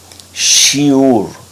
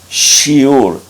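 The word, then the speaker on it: שיעור: una a se escribe con una B y se escribe como una re shiur shiur esta palabra se tradujo como enseñanza y vamos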